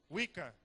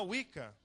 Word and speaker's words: Wicca: Wicca, isso é assim que pronuncia? Wicca.